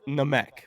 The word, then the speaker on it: Namek: I really don't care about people's pronunciation. It's Namek though.